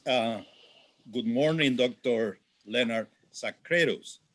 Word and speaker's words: Sacrédeus: good morning dr leonard sacredos i hope that i'm pronouncing well your last name very very very well succeeded yes we pronounce it in swedish so you you did it very well sadly i'm i'm not